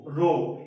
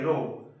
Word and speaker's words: rho: बच्चों इसे उच्चारण आप लोग ऐसे करोगे, रो ये सिंबल है, इसको लिख सकते हैं ऐसे बच्चों, RHO रो, इसे आप लोग उच्चारण से करोगे रो।